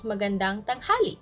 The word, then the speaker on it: magandang tanghali: say good noon it's magandang tanghali stress on dang magandang tanghali tanghali is